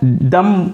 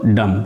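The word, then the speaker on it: dumb: गंज किसको बोलते हैं गंज का इंग्लिश डब होता है लेकिन यह बी साइलेंट होता है दम बोलेंगे या तो दम बोलेंगे और इसमें डर लगा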